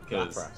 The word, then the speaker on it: Lapras: fun everybody my favorite my favorite British pronunciation of Pokemon is uh Lapras laas yeah Lapras Lapras laas yeah yeah that's my